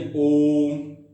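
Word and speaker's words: ओ३म्: यानी बेटा ओ का उच्चारण में दुगना न लग के तिगुना समय लगे, यानी ओम, ठीक है।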